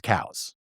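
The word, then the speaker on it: Coues: So the guy's name was cows. Yeah, that's how you pronounced his last name.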